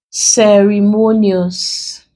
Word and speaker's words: ceremonious: So let's break. Ceremonious. And now this is a syllable before the last. We now write this in capital letters to indicate that this syllable is carrying the stress or the primary stress in that word.